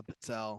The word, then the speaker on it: pizzelle: Yeah, pizzelle.